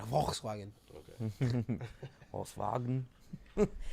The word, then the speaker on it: Volkswagen: So If a German comes in, you gotta say it right. Volkswagen.